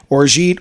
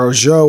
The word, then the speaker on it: orgeat: So the Trinidad Sour is Angostura with a little bit of rye whiskey, orgeat or orgeat, or however you want to pronounce it, which is an almond flavored syrup, that sort of thing.